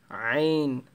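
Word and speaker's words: عين: দেন হচ্ছে তোয়া, আবারও বলছি তোয়া, এটা তার মতো উচ্চারণ হবে না তোয়া, আছে জ, আইন, আইন গলার মাঝখান থেকে আসবে, যে ওয়াইন, ফা, আবার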